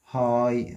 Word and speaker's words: high: في نمبر 2 the waves الأمواج are عشان هي جم high عالية gh لا تنطق في الأسطوبة عشان دي جملة خبرية.